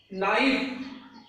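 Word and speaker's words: knife: Third नियम है, यदि किसी शब्द के प्रारंभ में, यदि किसी शब्द के प्रारंभ में के एन हो तो के साइलेंट रहता है। क्या साइलेंट रहेगा? के साइलेंट रहेगा। तो देखिए, नाइफ, नॉलेज, नाइफ, नॉलेज, ये नाइफ हो गया।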